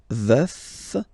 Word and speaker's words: veuf: Je suis veuf. Veuf, so remember to pronounce the final F, veuf, and then the feminine form, je suis veuve, veuve, veuve.